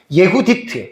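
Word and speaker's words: יהודית: 예후디트. 그냥 우리말은 그냥 유딧 이렇게 번역을 했어요.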